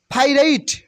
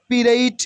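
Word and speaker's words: pirate: ফ্লিডা মিন উকিল ফ্লিডা পাইরাইট পাইরাইট মানে জলদস্য ফাইরাইট পাইরাইট নট নট পিরাইট অথবা পিরেট নো ফাইরাইট মানে জলদস্য ফাইরাইট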